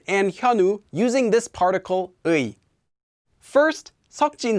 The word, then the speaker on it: 의: So in this lesson we learned about the particle 의, as well as how it's pronounced as 에, and how to use it.